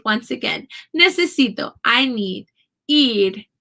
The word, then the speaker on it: ir: Ir. Ir is, it might sound like I'm saying ID, but really it's a flap R. There is an R in that sound.